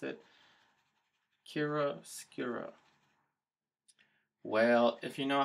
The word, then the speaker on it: chiaroscuro: I looked up how to pronounce it, chiaroscuro.